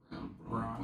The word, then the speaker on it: Braun: Brown. Whatever. It's Brown. Is it? It's Brown. It's spelled like Braun. It is, but it's Brown.